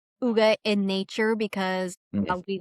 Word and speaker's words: Hygge: called my business Hygge, I called it Higgy for the longest Hygge. time until I really started studying it, that's when I learned the correct pronunciation for all of it, like, really deep diving into it.